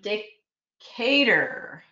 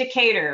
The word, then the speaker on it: Decatur: cater I always try I always try to pronounce it in a more French way and then uh from Atlanta with laughing at me I think it's Decatur right that's how you pronounce it in the United States but I'm glad you're